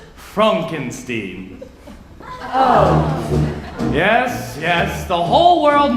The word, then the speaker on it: Frankenstein: Frankenstein that's frankenstein' my name it's pronounced Frumkin Steve yes yes the whole